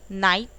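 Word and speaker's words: knight: नाइट, देखिए NIT नाइट pronounce हो रहा है, यानी कि शूरवीर।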